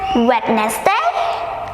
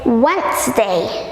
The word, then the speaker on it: Wednesday: of week is it wet nest egg no it's Wednesday Wednesday Wednesday so we don't pronounce today D is a silent letter so we never pronounce it we never pronounce it